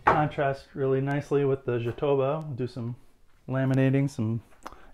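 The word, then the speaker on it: jatobá: It's jatoba, not jatoba, like if it were Spanish.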